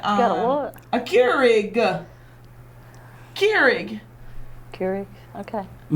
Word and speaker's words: Keurig: Keurig. Okay. Am I saying it wrong? No, you're saying it right.